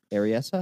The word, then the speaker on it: Berryessa: Berryessa?